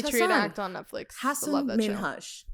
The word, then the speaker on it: Hassan Minhaj: Hassan Minhaj. Hassan Minhaj.